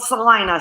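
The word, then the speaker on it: Celina: It's called Salina, spelled with a C.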